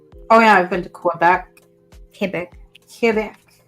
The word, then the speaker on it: Quebec: Oh yeah, I've been to Quebec. Quebec. Not Quebec. A lot of people get that wrong. Quebec. No. The Q and the U are not pronounced.